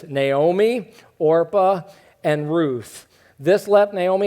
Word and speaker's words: Orpah: One married a woman named Orpah. Not Oprah, Orpah.